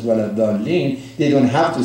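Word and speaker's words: ولا الضالين: You have to say, wala dhalin.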